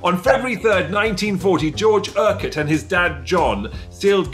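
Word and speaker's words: Urquhart: in february third 1940 george o'hart i think outside quote is it erket there you go on february 3rd 1940 george erket and his dad john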